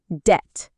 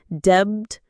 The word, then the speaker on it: debt: Number 11, debt. The B is silent, so not debt, but debt.